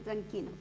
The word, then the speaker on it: Tranchino: Tranquino. Se escribe Tranchino, se pronuncia Tranquino.